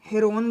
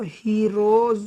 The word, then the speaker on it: Heron: हीरोज भी बोलते हैं एच ई आर ओ एन हेरोन भी बोलते हैं एंड इसको हीरोज भी बोलते हैं हीरोस का फार्मूला